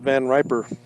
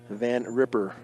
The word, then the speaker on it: Van Riper: Now Walt Van Riper. Now batting number 19, shortstop, Walt Van Riper. He is, okay, Walt Van Ripper. I'm sorry, I didn't know how they pronounced that. Van Ripper.